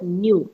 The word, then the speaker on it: nu: teach you this earlier it is denoted as like this but it is pronounced as new and you got it